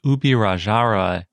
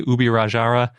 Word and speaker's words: Ubirajara: And when I say Ubirajara, I'm using the Portuguesized version of the word, because I don't know how to speak Tupi, and I couldn't find any pronunciation guide on that.